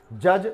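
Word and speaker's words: judge: तो बजट कहा गया है, डी यहाँ पर साइलेंट है। जज न्यायाधीश, जो न्याय करने वाले हैं उनको न्यायाधीश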